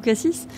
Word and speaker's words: Cassis: MX Mix à chacun sa prononciation un peu comme Cassi ou Cassis.